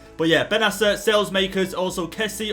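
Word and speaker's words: Kessié: But yeah, Benasser, Salesmakers, also Kessie. Obviously you could pronounce him Kessier. But I think we'll just call it as Kessie.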